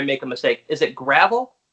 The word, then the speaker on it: Gravel: Is it Gravel? It's Gravel. Gravel. Okay. That was going to be my third choice. I thought there might be something. But it's spelled Gravel. So it's deceiving.